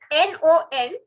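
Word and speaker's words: non: right we okay and in french no is n-o-n no okay so we means yes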